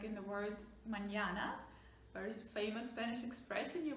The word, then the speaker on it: mañana: Alright, mañana, enye. This is a little wave, actually it's called tilde, which is that accent you put there, but yeah, remember when it's there you pronounce it very soft, nya.